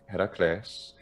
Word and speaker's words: Heracles: name is this iraquis heracles for an addict pronunciation classical addict heracles uh yeah so interestingly